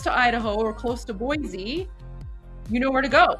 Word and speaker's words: Boise: Boise. I remembered. I remembered cuz I mispronounced it yesterday, but then you guys taught me.